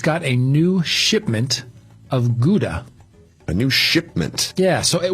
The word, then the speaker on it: Gouda: And so the shop attendant says, "Well, we just got a new shipment of Gouda."